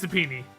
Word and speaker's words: subpoena: I still don't think that's how it's pronounced. Subpoena. Yeah, subpoena. It's subpoena. Why is it subpoena? Why is there a knee sound?